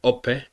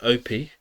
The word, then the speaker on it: Ope: But obviously, it is important to learn, I guess, and that's why I wanted to learn how to pronounce it correctly, Ope, rather than Opie, Ope, because it's a matter of respect for cultural identity, and it is what it is, man.